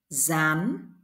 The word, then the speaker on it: gián: An An gian gian gi is pronoun the same letter Z in English dán dán con dán con